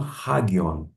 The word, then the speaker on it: hagion: Vou fazer um ajuste na pronúncia. Pneuma hagion porque a acentuação se encontra no alfa.